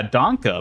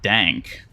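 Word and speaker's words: Danke: thank you in German yeah donka but not dank although I guess some people might pronounce it dank which is just like wrong but Dragon D is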